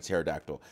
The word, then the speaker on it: pterodactyl: Because the first part comes from Greek pteron, so which is just pteron, wing, which has a non-silent P before the T. That P has become silent in the English language because English speakers do not typically pronounce the PT combination.